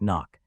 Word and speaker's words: NOC: You enter the country under a non-official cover, NOC pronounced knock, using a commercial identity.